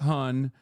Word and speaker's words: hon: Isn't it like a it's hun? It's pronounced hun, but it's spelled han.